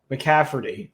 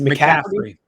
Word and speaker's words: McCaffrey: I think even with McCafferty on the team Sean I feel like I'm pronouncing his name wrong do I say it right it's a McCaffrey McCaffrey yeah add it any in